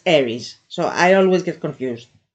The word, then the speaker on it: Aries: Aries from from Aries yes Aries I'm saying it correctly because I always get confused with the Greek word word for Mars which is aris but in the zodiac